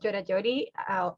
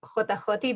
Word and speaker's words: JOTA-JOTI: to be all about georgiodi or hotahoti depending how you pronounce it on what part of the world you are right now